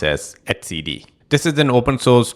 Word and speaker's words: etcd: I used to call it etcd, but I realized that it should be pronounced as etcd.